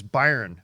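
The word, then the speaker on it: Byrne: that last john burn burn i always said burn but somebody told me it was byron i was like all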